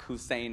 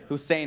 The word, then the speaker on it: Hussein: for him with his name, you know, Barack Hussein Obama. You know, could you be any more screwed running in the 08 election than with this name, right? Barack that rhymes with Iraq, okay? Hussein of like Saddam Hussein, okay?